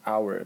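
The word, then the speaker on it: hour: for example our in our because the H is not pronounced okay so is about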